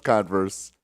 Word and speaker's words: Converse: right converse converse converse yeah that's how you pronounce it okay that's that how it's pretty out it's no it's converse just straight up converse yeah just say that